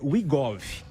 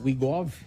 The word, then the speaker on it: Wegovy: O doutor vai me corrigir, mas me parece que a pronúncia é Wegovy.